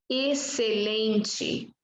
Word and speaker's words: excelente: Quando você tem X com C, a letra X não tem nenhum som. Você vai pronunciar a letra C. Normalmente está acompanhada de E e I. Na verdade, sempre está acompanhada de E e I. Então, você vai usar somente S.